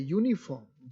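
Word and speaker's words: uniform: अब लिख रहे हैं यू लेकिन इसका उच्चारण क्या है यूनिफॉर्म। जैसे हम कह रहे हैं यूनिफॉर्म तो पहले य का साउंड आ रहा है ना,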